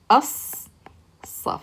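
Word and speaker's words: الصف: So we skip the lam and we pronounce the a sound here and connect it to that slad. So we get as, saf, as-saf. Okay, as-saf.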